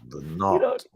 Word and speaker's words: Budenholzer: It's pronounced Go ahead. You can do it. You can do it. Budenholzer.